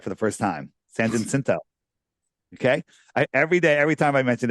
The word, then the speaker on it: San Jacinto: San Jacinto. Okay. Every time I mention it, somebody sends me an email phonetically spelling it for me.